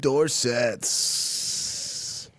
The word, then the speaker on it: Dorsett: Philip Dorsett. Any guys you want to touch on? Rhymes with corset.